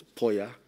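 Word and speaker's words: Poiya: It's spelled in the notice, in the diary as P-O-L-Y-A. It should be P-O-I-Y-A. So for the record, it's Poya, P-O-I-Y-A.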